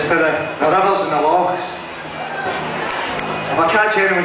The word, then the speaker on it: loch: The blue is for the rivers and the lochs. If I catch anyone saying lake, I'm going to kick your ass. A loch. Say it like you've got hair stuck in your throat.